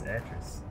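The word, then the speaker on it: Atrus: message yours arches and the name is address one that rhymes with mattress word okay so enter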